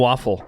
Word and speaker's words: Waufle: Waufle, Yeah. like the breakfast food. Yeah, but spelled differently different. though. It's spelled Exactly. differently, so just Yeah. pay attention. WAUF, F-L-E. one F, yeah.